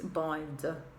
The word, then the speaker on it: boiled: say boiled boiled it's boiled boiled the tongue goes in the back with the l and stays there for the d sound boiled number two roast